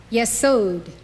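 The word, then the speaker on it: יסוד: Yesod, foundation.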